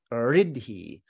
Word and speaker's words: iddhi: So the root of his name is the latter part of it, idhi, I-D-D-H-I. Iddhi in Sanskrit would be pronounced riddhi.